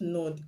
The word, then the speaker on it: knot: You already know that the word no, KNOW, is pronounced no. The K is silent. The word is not, KNOT.